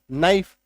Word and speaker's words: knife: Example देखो, KNIFE, के को काटो, अब पढ़ो नाइफ, नहीं काटेंगे तो क्या पढ़ेंगे, क नाइफ, गलत हो जाएगा।